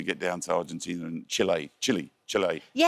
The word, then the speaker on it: Chile: It's not Chile, it's Chile.